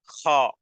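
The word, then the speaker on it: خ: হা আহাদ আহাদ আহাদ এরপরে খ গলার শেষ অংশ থেকে বা হলকের শেষ অংশ থেকে এই অক্ষরটি উচ্চারণ করতে হবে উচ্চারণে কঠিন হবে বলতে হবে এভাবে খা খালাক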